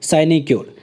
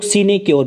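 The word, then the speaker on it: sinecure: मैंने प्रोनाउंसिएशन इसलिए बोला था कि स्टार्टिंग में ही इसको कुछ लोग सीनेक्योर भी पढ़ते हैं, कुछ लोग साइनेक्योर पढ़ते हैं, कुछ लोग साइनेक्योर पढ़ते हैं, ठीक है। तो डिपेंड करता है कि आप कैसे प्रोनाउंसिएशन कर रहे हैं। बाकी एग्जैक्ट जो है वो साइनेक्योर है, ठीक है।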